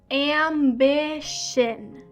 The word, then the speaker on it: ambition: So it is pronounced ambition. Ambition. There really is not a t sound in this word.